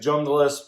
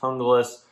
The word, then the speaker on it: Junglas: Some people say it's Junglas, but it's actually pronounced Junglas.